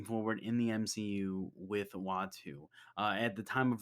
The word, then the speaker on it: Uatu: not just the watchers but watu that's his name in case you didn't know uh i actually don't love his name uh it's spelt uatu uh the watcher watch